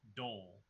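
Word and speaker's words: dhole: It's pronounced, actually, even BH, which is how it's spelled, it is still pronounced dole.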